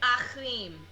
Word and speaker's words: Achim: It is said Achim. It is Achim.